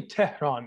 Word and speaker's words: Tehran: So I say Tehran because it's the easiest way to pronounce it for everybody to enunciate. But it's actually Tehran. If you wanted to get extremely proper, it'd be Tehran. But Tehran works for me.